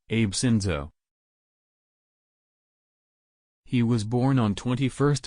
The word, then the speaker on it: Abe Shinzo: Shinzo Abe Shinzo, pronounced Abe Shinzo.